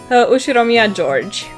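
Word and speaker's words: Ushiromiya George: His name is pronounced Ushiroia George.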